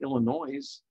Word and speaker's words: Illinois: we hear someone say illinois yes there's an s at the end it's not pronounced but still that would